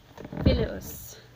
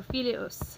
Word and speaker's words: filius: Broken into its syllables, we have a three-syllable word. If you start at the end, go back one. Is it long? It's not. Go back one more, and that's where our accent goes.